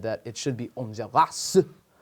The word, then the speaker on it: Enjolras: French, but it's just Enjolras. But you have to do that thing with your lip. You should. You did. Your lip goes up. It's like an Elvis thing.